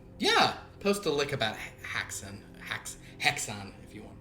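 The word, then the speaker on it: Häxan: post a lick about haxon ha hexon if you want to um I don't fully know the um the exact Swedish pronunciation but I'm pretty sure it's hexen like that um well that was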